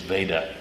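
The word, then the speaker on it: Vajda: By the way, it's V-A-J-D-A, but I understand the authoritative pronunciation is Veda, like Darth.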